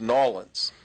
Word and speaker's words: New Orleans: He would say, "This is my town, New Orleans." He'd pronounce it like that. Boy. New Orleans. Everybody that lives there, it's Nolans. But he said, New Orleans.